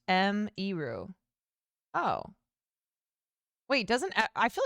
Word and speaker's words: Emiru: Rather than say Emiru, it's pronounced M-Eru.